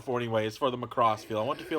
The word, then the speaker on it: Macross: Is for the Macross feel.